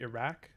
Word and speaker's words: Iraq: sound that you see in the name of the country Iraq, which would be pronounced not like a k as we do in English, but with a q.